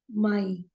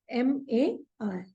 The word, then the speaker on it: Mai: But we'll pronounce it as April because A is pronounced as A in German. So it is April. For May, it is Mai, M-A-I.